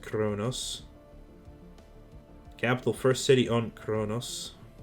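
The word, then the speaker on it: Qo'noS: I believe that their whole world is called Chronos at least it's spelled konos but it is pronounced Chronos capital first city on Kronos playing on Empire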